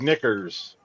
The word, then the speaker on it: knickers: Uh, starts with a silent K 200. It It's what the Brits call underwear. And yes, you can say it on TV. Jeff, what is knickers?